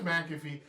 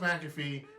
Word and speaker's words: McAfee: And in the main event, Pat McAfee, his name is McAfee. It's pronounced McAfee. It's spelled McAfee, but whatever.